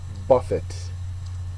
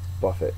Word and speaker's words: buffet: smorgas borg of food is actually pronounced Buffet Buffett not the French pronunciation so a buff it